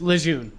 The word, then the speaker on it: Lejeune: Well, his descendants say that his name was pronounced Lejeune, but guess what? There's no R. I am not freaking 70 years ago. It's Lejeune.